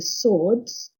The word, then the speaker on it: swords: along with weapons including swords and then at this stage you might note the pronunciation of Swords but the W is silent um with weapons including